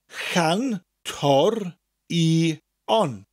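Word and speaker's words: cantorion: Chan. That slight ch sound from the back of your throat. Ch, ch, like in the word loch. Chan. Tor. I. On.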